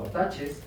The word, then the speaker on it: attachments: Esto les pid estos materiales para que hagamos una práctica de attachments o attaches. Esto se escribe attachments, pero también se dice attaches por ahí. Entonces, ataches son más guatemalteco.